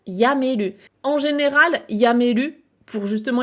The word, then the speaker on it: やめる: plus meru, et derrière, il faut savoir est-ce qu'il se prononce tomeru ou est-ce qu'il se prononce yameru.